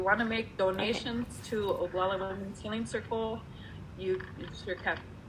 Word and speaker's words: Oglala: The page is called Oglagola Women's Healing Circle, Mind Body Medicine. And Oglagola is spelled Oglala.